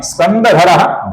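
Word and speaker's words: स्कन्दधरो: इन तीन नामों के अंतिम अक्षर के आगे व्यंजन आने के पश्चात इस विसर्ग का ओ ऐसा उच्चारण हम करते हैं। अर्थात स्कंदधरा का बनता है स्कंदधरो। उसी प्रकार धुर्याह का बनता है धुर्यो और वरदः का बनता है वरदो।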